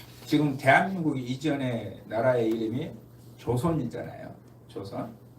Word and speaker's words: 조선: 대한민국이 이전의 나라의 이름이 조선 있잖아요 조선 그런데이 조선이라는 발음을 어 미국 사람들이 못해요 잘 할 기가 어려워요 그래서 뭐라고 발음을 하냐 초선 이렇게 발음 해요 초선 근데 아 미국